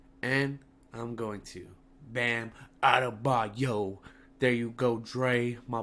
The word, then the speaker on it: Adebayo: And also, I have to say sorry to that man Bam Adebayo and my boy Dre, because he roasted me for saying his name wrong.